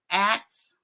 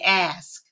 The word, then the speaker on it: ask: me about of course the word acts and then I said I sound I think I'm saying it right he go Kaa you're not he said okay when from now on when you say the word think of your ass and then you will say it right and then for about